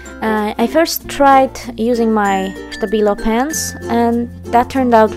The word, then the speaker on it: Stabilo: yes i keep saying stabilo and stapido i guess you can say both ways both are socially acceptable don't worry this is how they pronounce it in germany and i say stabila